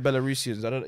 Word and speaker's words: Belarusians: life Belarus respectfully bigger we got the belarusians is how you say it but the belarusians big